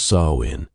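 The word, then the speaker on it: Samhain: They called it smon, pronounced saw in the festival of endings and beginnings.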